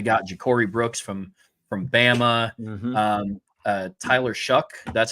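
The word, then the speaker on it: Tyler Shough: So they got Ja'Cory Brooks from Bama, Tyler Shuck. That's how I learned that's how you pronounce his last name, even though it's Shough. It's Tyler Shuck.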